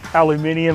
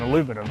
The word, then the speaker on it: aluminium: an aluminium block but the british say aluminium i just think that sounds better than aluminum so we're going to go with aluminium but i love i